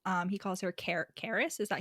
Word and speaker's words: Carys: I've only heard it spelled Carys. Yeah, with a Y. Caris. See, Rhys with a Y, Caris with a Y.